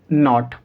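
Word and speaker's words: knot: एन से पहले के, तो जब कभी भी एन से पहले के को लिखा जाएगा तो के साइलेंट होगा। समझ पाए? इसको हम कैसे पढ़ेंगे? नी, नॉलेज, नॉट।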